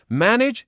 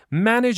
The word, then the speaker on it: manage: Number 8, manage expectations. Manage expectations. Manage expectations. Okay, first of all, pay attention to the pronunciation of this word. It's not manage or manage, it's manage.